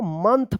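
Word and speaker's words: month: मंथ पढ़ेंगे।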